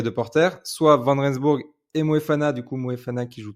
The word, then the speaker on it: Moefana: Ouais, et puis en plus, là, c'est Noël, t'as prononcé correctement Moefana, c'est champagne.